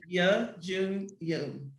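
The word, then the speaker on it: Youn Yuh-jung: Please pronounce her name for me, Bianca. Ya Jun Yoon.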